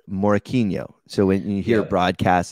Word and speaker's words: Morakinyo: Morakinyo. It's like you're a little confused, but yeah. I know Morakinyo. Morakinyo. Okay, there we go. Yeah, there you go. Okay. I was confused because everybody says Morakinyo.